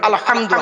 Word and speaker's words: আলহামদু: আলহামদু, আমার বাপেরা গলা থেকে উচ্চারণ করবেন আলহামদু, হাই হুটি, হাই হাওয়াজ নয়।